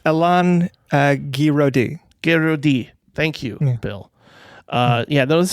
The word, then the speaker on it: Alain Guiraudie: How do you say his name? Elaine Goulardi? Goulardi. It's probably Goulardi. I don't think that is at all. He comes from Oxnard. Yeah, go on. Mm-hmm. It's Alain Guiraudie.